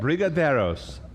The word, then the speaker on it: Brigadeiros: Coming up, our next class is, I can't even pronounce that. Classic Brigadeiros? Yeah, Did I that's just right. nail that? That's right. Brigadeiros.